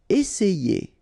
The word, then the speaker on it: essayer: Essayer. Remember, double S, really strong S, and then it opens the E.